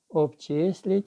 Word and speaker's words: обчисліть: Обчисліть чи обчисліть. Різні варіанти можна почути на уроці. Правильно наголос ставиться на другий склад. Обчисліть.